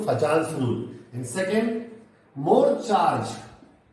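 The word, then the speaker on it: Fajans: Scientist का नाम है फैजान। सो इट इज फैजान्स rule. Pronunciation थोड़ा चेंज हो गया, फजान्स रूल।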